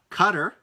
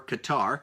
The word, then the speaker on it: Qatar: I was in Oman Qatar or Qatar qadar pronounced both ways I was in the